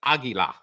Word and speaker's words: águila: It's Spanish for eagle, which is águila.